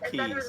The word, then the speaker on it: Colchis: What is the pronunciation right? That's Right. Colchis. Yeah, And that was Colkeys.